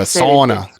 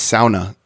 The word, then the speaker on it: sauna: they contributed an email listener correction about the pronunciation of sauna. Yeah. Right. We were calling it a sauna. Sauna. Yeah. And they said, no, it's sauna.